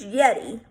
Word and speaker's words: Yeti: you can watch for a huge Yeti rhymes with spaghetti that's a mythical creature